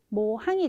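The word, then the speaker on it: 模範: 네, 여기에서는 정답은 모항이 되겠습니다. 그래서 기본적인 발음이 모예요.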